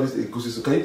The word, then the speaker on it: egusi: We call it egusi soup. Can you pronounce it?